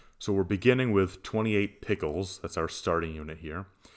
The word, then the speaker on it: piculs: On a spending spree in Malaysia, you buy an ox with a weight of 28.9 piculs, yes, that's how it's pronounced, in the local unit of weights.